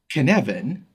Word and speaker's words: Cynefin: The Cynefin framework. It's a Welsh word that is spelled Cynefin and pronounced kun-ev-in, and it has no direct English translation, but it's a sense of environment and connectedness.